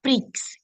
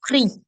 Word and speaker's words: prix: If you remember the dipsticks rule, DPSTX, whenever it is at the end of a word as consonants, we don't pronounce them. And that's the same thing that you're seeing here. It's not prix, it's not six, it's not folks, it's not dukes.